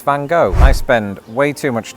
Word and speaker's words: Van Gogh: And at some point while I was living in Britain, I learned that Americans pronounce it van go because again presumably somebody saw the word though and made a similar choice.